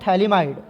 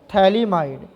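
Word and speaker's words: phthalimide: इसको हम लोग बोलते हैं पोटासियम सॉल्ट ऑफ थैलिमाइड।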